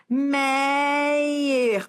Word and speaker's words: Meyer: Meyer, ó, Meyer, paroxítona, ó, paroxítona porque a sílaba forte é esse E, Meyer, que não termina em A, E, O, em ENS, ou seja, termina em R, tá?